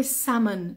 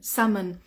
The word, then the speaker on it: salmon: he has chosen salmon lovely and we say salmon salmon we don't we don't pronounce the Le in Salmon I know in